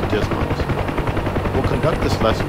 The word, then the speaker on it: DSMS: dysfunction of the Digital Sports Management System, or DSMS, often pronounced DISMOS.